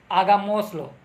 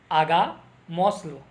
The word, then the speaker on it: Hagámoslo: Hagámoslo. Hagámoslo. Let's do it. Let's do it. Hagámoslo. Let's do it. चलो करते हैं. One more thing is that always H letter in the Spanish would remain silent.